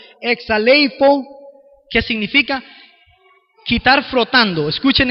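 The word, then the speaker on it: ἐξαλείφω: bien difícil de pronunciar algunas veces suena como exale ifo que significa quitar frotando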